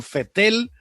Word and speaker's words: Vettel: millones de dólares sebastian vettel se escribe con be corta pero usted saben que es alemán y la ve corta suena como efe sebastián fuerte el de